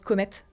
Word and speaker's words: Comet: Mais qui a mis en place Comet comme ça se prononce, okay. Et du coup ET à la fin.